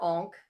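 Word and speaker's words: ankh: And he sees her onk, which he calls an ank, which really annoyed me because it's an onk.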